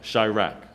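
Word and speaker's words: Chiraq: It's a Chirac. It's C-H-I, rack. And they spell it like Iraq, but instead of the I, it's Chi, C-H-I.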